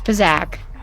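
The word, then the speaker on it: Pazaak: I keep saying it wrong. It's Pazak.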